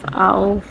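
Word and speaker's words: auf: ইউংলাউড বি ই আ উবা কি এটা হচ্ছে ঝুলানো কোন কিছু উপরে ঝুলিয়ে রাখাকে ওটাকে উবা বলে ঝুলানো তারপরে হচ্ছে আউফ এ ইউ এফ আউফ অর্থ উপরে আউফ অর্থ কি উপরে এরপর হচ্ছে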